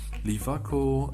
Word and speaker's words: LIWACO: watch the previous video lifaco is actually a German pronunciation it stands for the